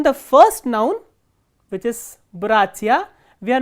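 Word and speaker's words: братья: For example, look at the word bratia. Here stress is on the first syllable, not on the ending.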